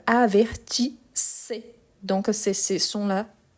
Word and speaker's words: avertissez: Mais ici il a un double S. Donc avertissé.